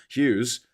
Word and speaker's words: Hughes: and a H in the middle that do absolutely nothing for the name. Did nothing for the word. Like, you could take them out and it would still spell Hughes. It would still be pronounced Hughes. You'll look at it, Hughes, and you'll go, oh yeah, that says Hughes. You got a completely redundant GH in the middle of my surname.